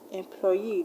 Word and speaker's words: employee: We have fusee, employee, disagree. These words end in EE, so you're going to stress the last syllable. Now words that end in ESE, you should also stress the last syllable, like Japanese, legalese, etc.